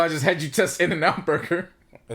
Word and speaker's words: In-N-Out: I pronounced the T just to make sure.